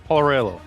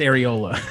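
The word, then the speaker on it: Arriola: Paul Aurelio. Yes, yeah, he was FC Dallas player, going crazy. Paul Areola, yeah, he was going. That's absolutely. not how you say it. It's Areola.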